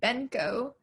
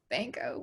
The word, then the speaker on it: Benko: with an e everyone everyone thinks my last name is pronounced benko but it's not it's banko with an a um so just bank